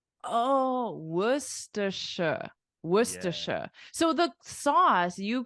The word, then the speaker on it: Worcestershire: yeah but it's not that's not how you say it what do you say are you ready I'll show you so we say Worcestershire oh Worcestershire Worcestershire so the sauce